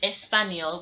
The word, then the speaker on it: español: the near sound near so when we're saying espanol we don't say español like a regular n it has a tilde above it so it becomes espanol yeah yeah so it has that near strong